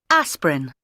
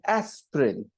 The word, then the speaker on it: aspirin: okay 8.12 shopping list aspirin when you hear aspirin you'll notice two wobble sounds okay aspirin if you